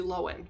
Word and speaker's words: Lohan: know who you look like Lindsay Lohan Lindsay loen that's how you say her name it's not lowan people I found that out couple years ago and I was blown away I've been saying low hand my whole life anyway or Ed Sheeran I'm